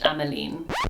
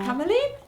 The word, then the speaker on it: Ammeline: Ameline.